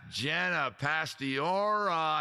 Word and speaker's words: Jenna Pastiora: That's Jenna Pastiora. I'm saying it right. Give her love in the chat, guys. Give her lots of love. She was tolerant of my dumbass saying her name wrong for years.